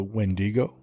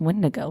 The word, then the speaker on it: wendigo: ever heard of a wendigo I think it's pronounced windigo right is it it looks